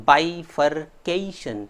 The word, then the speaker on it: bifurcation: So forget and remember cation. Forget that gation and remember cation. Bifurcation. Bifurcation.